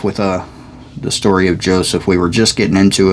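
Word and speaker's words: יוסף: story of joseph or if you're trying to read it in hebrew it's actually pronounced yosef yosef i think i don't know y-o-s-e with a little thing above right ph so there is no j word in hebrew no j sound or letter i don't think but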